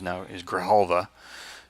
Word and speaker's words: Grijalva: So Enrique Grijalva, we have learned the pronunciation is Grijalva.